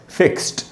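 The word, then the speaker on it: fixed: पहला वाला word फिक्स्ड, इसमें ये जो डी है, इससे डी से ड नहीं, ट का साउंड बनेगा, फिक्स्ड।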